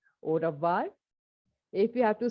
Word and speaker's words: au revoir: Au revoir. AU is O, okay?